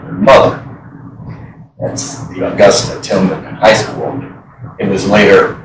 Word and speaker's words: Tilghman: The spelling of this name, because it's pronounced Tilghman, there was a lot of different ways it could be spelled after you got here.